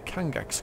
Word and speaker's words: Kangax: He's part of the Kangax quest. That's how you pronounce that.